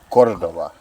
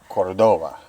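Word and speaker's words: Córdoba: Argentina you told me you put the emphasis on the first syllable Cordova Cordova not Cordova exactly very good I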